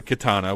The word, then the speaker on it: Khetanna: to sit down and really talk about the katana which is the pronunciation we're going to stick with because it